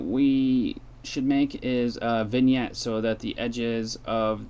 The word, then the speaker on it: vignette: Vignette is how it's spelled.